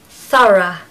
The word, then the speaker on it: thorough: It's just 2 syllables, first of all, to tell you, and it's just th, th. I know you can make that sound. Th, thorough, thorough, thorough, thorough. Okay, speed it up, it becomes thorough, thorough. The stress is on the first syllable, and we need to have a schwa on the end, so it's just ra, thorough.